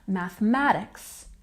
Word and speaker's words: mathematics: next we have mathematics we've got the primary stress here on the math part and the secondary soft stuttle stress in the beginning so when I say this word it's mathematics mathematics and next we have